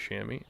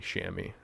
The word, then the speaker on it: chamois: look on the reverse chamois yeah and by the way i think i'm pronouncing it correctly shammy instead of chamois but uh i might